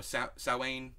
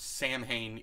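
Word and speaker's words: Samhain: uh Sam you know sowain was Sam Hayne if you know you pronounce it wrong I think even saline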